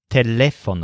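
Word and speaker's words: teléfono: and it tickles him his word for telephone sounds a lot like our word for telephone but it stresses leaf like leaf so the word is telephone all on this same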